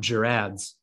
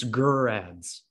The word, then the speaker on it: Gerads: It's not Gerads, it's Gerads. I mean, we were close. Gerads. I don't think so. I think we were way off. Soft G, that's all we had wrong?